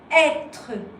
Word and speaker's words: être: Alors careful, as you can see, you have a E, what we call in French E, with a kind of Chinese act, which we call an accent circonflexe. So this, you pronounce it être, être.